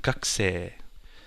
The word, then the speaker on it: gakusei: So it's sensei and gakusei.